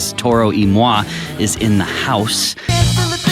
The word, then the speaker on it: Toro Y Moi: It starts in Spanish but ends in French, and it's pronounced like this ... "Toro Y Moi is in the house."